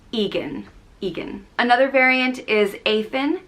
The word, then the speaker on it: Egan: similar one is egan which means fiery and it's spelled e-g-a-n and is pronounced egan egan another variant is athen which means white